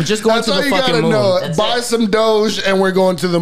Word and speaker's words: doge: all right don't forget dodge coin doge doge don't even listen to him because he doesn't even know how to pronounce it yo buy some dogs yeah well tell me where dodge is from it's not dodge the car either so